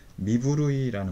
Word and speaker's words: 身震い: 여기에서 미부르이라는 말은 몸떨림이죠. 후루우라는 동사와 몸이라고 하는 미자, 이게 이제 합쳐져 있죠. 그래서 부르이로 이렇게 미부르이로 이런 식으로 그 연음화돼 가지고 소리가 그 발음이 되죠.